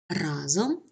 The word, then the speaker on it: разом: наголос на першому складі разом наголос на першому складі Таким чином унормовані правила